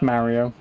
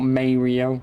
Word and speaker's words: Mario: Yeah, it's Mario. Not Mario or Mario.